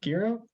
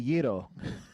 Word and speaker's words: gyro: Is it gyro? It's actually Yiro.